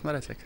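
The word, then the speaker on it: Mareček: How do I pronounce it? Maracek.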